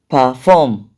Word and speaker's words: perform: then for rule two two syllabic verbs and prepositions are usually stressed on the second syllable when you say two